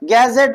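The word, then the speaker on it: gadget: आर गैजेट में भी हमारा जो है डी कहां आ रहा है? जी से पहले आ रहा है। तो यहां पर भी हमारा डी क्या होगा? साइलेंट होगा।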